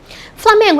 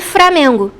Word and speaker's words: Flamengo: a gente tem aqui a palavra Flamengo Flamengo é pronuncia mais próxima do padrão tanto que é agrafada com o l né Flamengo mas não é difícil a gente ouvir framengo ou então prano outras